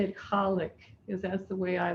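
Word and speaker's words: Khaliq: l i q and it's often pronounced colic but however you want to say it i'm going to say it colic because that's the way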